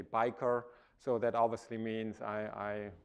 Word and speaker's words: Beiker: From my last name, if you pronounce it uh the German way, where I'm from, from from Germany, then you would say biker.